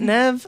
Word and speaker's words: Neve: Anyway, Is it Nev? I thought it was Neve.